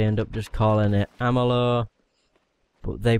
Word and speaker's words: Amalur: things I'll probably end up just calling it Amela but they pronounce it like armalore and it's really weird I just don't know